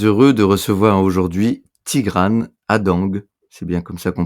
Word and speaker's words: Hadengue: Bonjour à toutes et tous, je suis très heureux de recevoir aujourd'hui Tigran Adang, c'est bien comme ça qu'on prononce.